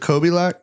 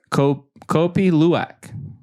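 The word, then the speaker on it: Kopi Luwak: What is it, Kobe Lack? Kobe Luwak. I'm going to act like I know how to spell that.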